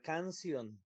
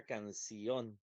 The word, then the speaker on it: canción: Si la sílaba tónica fuera aquí, entonces diría cancion y es lo que debemos de determinar nada más. Canion no es una palabra que exista. Entonces, la sílaba tónica no está en can. La sílaba tónica va a estar en para que diga canción.